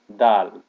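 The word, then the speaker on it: دال: to what it is so that's dull dull is not exactly pronounced like d but more that that dull the next one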